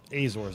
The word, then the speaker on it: Azores: The Azores, Azores, Azores is how I pronounce it. Azores.